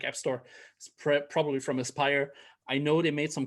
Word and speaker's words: Aspyr: It's Aspyr, or Aspyr. I think it's pronounced Aspyr.